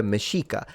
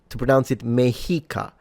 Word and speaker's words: Mexica: Those native people refer to themselves as the Mexica. Now, the article tells me to pronounce it Mexica. I heard that it was Mexica, but I don't know.